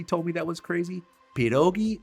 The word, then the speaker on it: pierogi: me that was crazy pirogi is plural and pirog is singular I've been saying pirogis my whole life gosh I'm terrible with